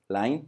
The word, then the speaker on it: Line: Line, que se escribe como línea en inglés, line, pero se pronuncia Line.